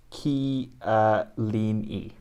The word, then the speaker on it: Chiellini: frederico bernardesque yeah okay giorgio chiellini is giorgio ki uh leni yeah so it's georgio not georgio georgia giorgio yeah it's georgio okay so there's c and the h of the k song yeah yeah okay um